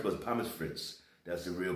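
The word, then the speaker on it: Pommes frites: you know i said people they would say papa first but pam is fritz that's the real pronunciation of french fries here in germany this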